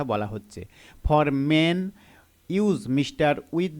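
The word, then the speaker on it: Ms: বাদে সকল ওম্যানের ক্ষেত্রে এম এস অর্থাৎ মিস pronounced মিস এম আই জেড এম আই এম এস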